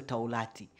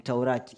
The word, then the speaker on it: Taurati: Anaimba vizuri, lakini kitu kidogo tu, pronunciation tu ya Taurati. Sio Taulati, ni Taurati. Iyo tu, lakini kila kitu kiko sawa.